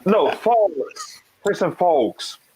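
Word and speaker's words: Falk: That's how you pronounce his name, Christian Folks? Did you say false? No, Folks.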